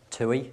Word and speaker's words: TUI: TUI is how you pronounce it, and the palm trees in the background should provide a good idea as to what we sell.